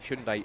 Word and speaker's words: Hyundai: Hundai iconic race uh race car safety car and just a bit of a spite here.